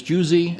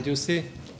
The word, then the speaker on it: Gyuszi: His name is Hungarian and it's pronounced similar to juicy, as in juicy fruit, okay? I'll introduce Gyuszi, and then when the panel starts, I'll introduce Jason Kane, the panel moderator.